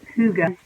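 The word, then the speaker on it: hygge: heart to get hy g GE which is pronounced Kouga actually that's a European term that means comfort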